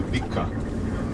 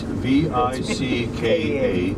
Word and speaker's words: Vicka: Many Americans would say Vicka. It's V-I-C-K-A. That's how we, you know, spell it, and pronouncing is Vicka.